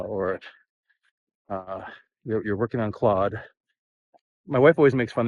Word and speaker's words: Claude: specifically on llama or uh you're working on Claude my wife always makes fun of me because I always say Cloe because I'm Canadian I speak French and I